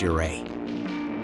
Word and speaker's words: Ouray: its nickname Little Switzerland less easy saying your a correctly if you want to score points with the locals you'll learn that it's correctly pronounced your a box canyons waterfalls hot